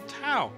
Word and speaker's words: Thao: It's the name that her grandmother gave her, Tao. Oh. So it helps if you take out the H when you say it, but don't forget to put it back in when you spell it.